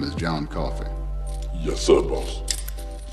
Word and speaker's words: Coffey: your name is John Coffey yes sir boss like a drink only not spelled the same press clumsily drafted as